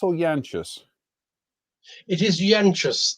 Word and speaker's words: Yanchus: is it is it yankus or yanchus it is yanchus the name is lithuanian origin uh i think the